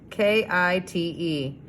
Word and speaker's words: kite: my my finger space k i t e let's sound it out this is long i i and silent e i kite ooh kite i like